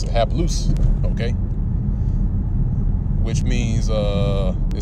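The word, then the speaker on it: ἁπλοῦς: hapless all right have loose that's how you pronounce it half loose okay which means uh it says simple single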